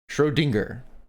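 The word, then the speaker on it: Schrödinger: Shrodinger. So, it's dingga, not ding. Okay.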